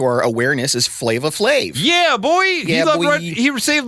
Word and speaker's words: Flav: flavor FL flavor a flave I keep saying flavor it's an a Johnny not an o r I thought my anema